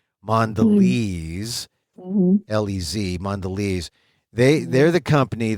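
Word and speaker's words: Mondelēz: nde l and then they have the accent over the e or not accent but the you know the the mark over the E so you know it's a long e mandes lez mandes they they're the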